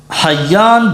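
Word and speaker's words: حيان: وایي چې ابو الحیاج اسمه حیان بفتح الحاء المهملة وتشديد الياء المثنات د دې چې تلفظ کو نو ها به مهمله وایو ها به نه وایو او تشدید د یا به وایو تخفیف د یا به نو حیان ته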